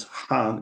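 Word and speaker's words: Hanh: so the monk was called thick Nan and Han is spelled h a n h and he said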